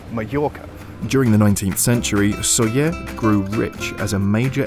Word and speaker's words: Sóller: And that's because in Spanish, a double L sound makes something between a Y and a J, like a J, which